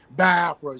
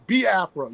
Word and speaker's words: Biafra: say accent is like I get tongue tied and I say bafa so it's ba afraa you know what I'm